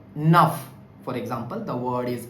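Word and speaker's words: neuf: So the word like nuff for example the word is f there n enough nuff means new also nuff means nine also.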